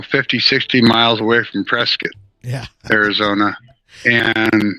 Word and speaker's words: Prescott: 60 miles away from Prescot yeah Arizona and you got to pronounce it right you can't say Prescott you have to say Prescot otherwise the people from Prescot will get mad at you uh oh yeah